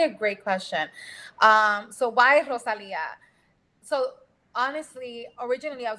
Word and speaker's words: Rosalia: So I like to tell people, like, it's Rosalia. It's two words in one, really, but it's Rose and Leah.